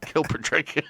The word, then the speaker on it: Kilpatrick: Instagram chicken Captain Kilpatrick there we go kill Patrick that's how you say it in German along with Captain Charles G